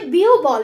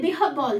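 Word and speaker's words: বিহ্বল: বিহব্বল, অনেকেই বলে বিহুবল, বিহুবল নয় কিন্তু এটা হবে বিহব্বল।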